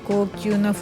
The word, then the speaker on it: GLAS: First of all, the tinted lens reading glasses I'm currently wearing that just arrived They are "GLAS" I think it is pronounced "glass" This one has a silver frame with grayish lenses.